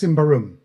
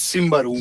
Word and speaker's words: Symbaroum: because I've been saying Symbaroum for I don't know how long, and it's Symbaroum. Yeah, I usually go for Treebeard in Peter Jackson's Lord of the Rings. Yeah, he goes Bararum. So that's Symbaroum.